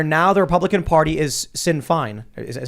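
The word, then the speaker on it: Sinn Féin: irish republicanism where now the republican party is sin fine is it how you pronounce it yes uh and it's just a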